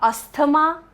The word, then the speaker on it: asthma: It's not asthma, it's asthma. Okay.